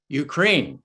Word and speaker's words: Ukraine: you ukraine ukraine ukraine ukraine well tony it's ukraine and maybe you can join me in in